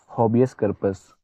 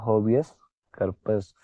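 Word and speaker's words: habeas corpus: तो बंदी प्रत्यक्षीकरण को बोलते हैं होबियस करपस। ठीक है? बंदी प्रत्यक्षी। ठीक है? इसको बोलते हैं होबियस करपस। ठीक है? इसका स्पेलिंग होता है एच ए बी ई एस हॉबियस।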